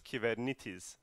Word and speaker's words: Kubernetes: as you see here it's a Greek word that everyone mispronounces so the right way of saying kubernetes is given it is and the reason why